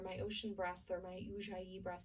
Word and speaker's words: Ujjayi: its own style of breathing, which is called Ujjayi breath. It's Ujjayi, it's spelled, so Ujjayi breath.